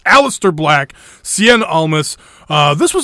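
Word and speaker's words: Aleister Black: apologize last week for some reason I was pronouncing his name alist or something and it's the name is spelled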